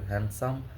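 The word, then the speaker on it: handsome: আপনি যদি সুন্দর কথা বলেন, সুন্দরভাবে চলাবে, হ্যান্ডসাম দ্যাট হ্যান্ডসাম দাস, হ্যাঁ, এখানে ডি আবার সাইলেন্ট আছে, হ্যান্ডসাম থাক না, মাইরেন না, হ্যাঁ, স্যান্ডউইচ, এগুলা অনেক কিছু সাইলেন্ট লেটার থাকে।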